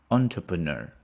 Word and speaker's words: entrepreneur: of a successful entrepreneur entrepreneur entrepreneur the stress is on the last syllable entrepreneur do you